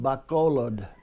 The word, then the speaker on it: Bacolod: say the pronunciation and they would say oh yeah you mean Bacolod anyway Filipinos call it Bacolod but : so several